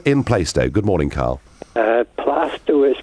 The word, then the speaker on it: Plaistow: Plaistow is pronounced.